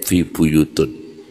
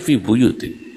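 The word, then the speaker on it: في بيوت: Ditegur para ulama, jangan bacanya fi buyutin ya. Jangan fi buyutun ndak saya tetap fi buyutun gak mau berubah padahal Qurannya fi buyutin dia baca fi buyut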